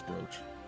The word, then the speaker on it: brooch: I know it's brooch. That's just one of those words that I always want to say it wrong, so I figure I'd just lean into it.